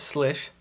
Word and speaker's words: Slysz: spyderco slish buoy now it took me a little bit of research to find out exactly how to say the name of this blade since it's spelt in a very interesting way but it is slish so i just wanted